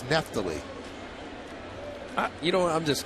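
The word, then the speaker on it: Neftali: outstanding 13 saves and we're not mispronouncing his name that's how his name is pronounced it's been mispronounced all of last year and he never said anything it's not NE T it's neft you know what I'm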